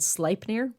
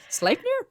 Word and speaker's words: Sleipnir: I was like, I bet you I'm pronouncing that wrong. And you happened to be playing World of Warcraft with a Danish guy and asked him how to spelled it out and asked him how to pronounce it. And he was like, Sleipnir? He's like, why are you asking about that?